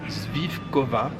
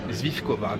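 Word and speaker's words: svíčková: très populaire ici qui s'appelle attention à la prononciation zvifkova zvifkova et c'était excellent aussi viande de bœuf d'ailleurs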